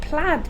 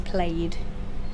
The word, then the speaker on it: plaid: I don't think we ever pronounce that word as played. I don't think we do, It's no. plaid. Even though the spelling suggests we should.